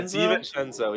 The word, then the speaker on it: DiVincenzo: Yeah, DiVincenzo.